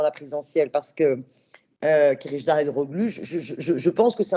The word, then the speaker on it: Kılıçdaroğlu: avoir un mal pour une difficulté à le prononcer, Kılıçdaroğlu. Kılıçdaroğlu, on dit ça? Non. Vas-y, Emre, fais la... Non, mais j'avoue, c'est difficile à prononcer. Kılıçdaroğlu. Kılıçdaroğlu.